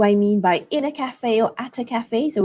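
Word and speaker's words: café: and so in British English it would be Cafe Cafe so the stress falls on CA but in American English the stress falls on the second syllable Cafe Cafe so let's do it again Cafe British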